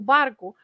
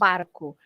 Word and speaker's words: barco: o garfo and o barco, probably the person who pronounced it also skipped the O at the end. But Yeah. the O at the end is always pronounced as the sound U.